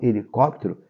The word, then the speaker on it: helicóptero: vendo aqui ó helicóptero essa palavra ela é uma palavra proparoxítona por qu porque a anti penúltima sílaba que é essa daqui é que é a sílaba forte toda a palavra proparoxítona ela deve ser acentuada Tá bom então helicóptero